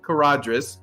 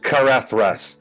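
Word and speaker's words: Caradhras: the path of co pass of caradrus and the snowy mountains and the saruman stuff it's pronounced carrethros my prediction is it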